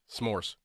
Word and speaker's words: s'more: It's supposed to say you're supposed to pronounce it s'more cuz it's like some more.